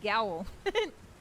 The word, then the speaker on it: growl: It's not pronounced goal, it's pronounced gowl.